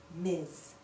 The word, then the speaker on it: Ms: last name of an unmarried woman listen Miss Miz we can also use Miss alone we can